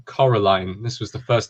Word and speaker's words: Coraline: my companion this is Coraline from Coraline not Caroline Coraline this was the first